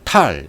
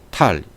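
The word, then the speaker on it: טל: 테트라는 단어를 먼저 써요. 이렇게 테트, 그 다음에 라멕, 이렇게 라멕, 그리고 탈 이렇게 읽습니다. 탈. 이슬이라는 단어는 탈이라고 읽는데 헤트라는 단어와 라멕이라는 단어가 쓰였어요.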